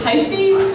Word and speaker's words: HIVE: Hi, it's pronounced hyphy, although it looks just like hype.